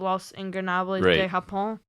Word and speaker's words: Los Ingobernables de Japón: after an Evil distraction, because Evil's part of Los Ingobernables de Japón.